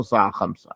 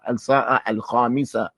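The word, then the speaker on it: الساعة الخامسة: They say as-sa'a khamsa. There's no sa'a khamsa. As-sa'a al-khamisa. As-sa'a al-wahida. As-sa'a al-thaniya ashar. There's no sa'a thintain. That's not how you say it in Arabic.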